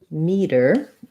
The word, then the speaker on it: meter: with that and then for meter it has the green tea vowel so i see the meter green meter the otherwise the words are pronounced exactly the same they both have a flap so it sounds a